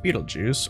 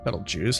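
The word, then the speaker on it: Betelgeuse: here we are again we have Beetle Juice or Bal juice however people want me to pronounce that I'm going to go with the uh common American pronunciation which is Beetle Juice and we also got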